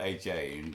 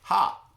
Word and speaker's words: Ha: It's spelled H-A, and she says, Ha.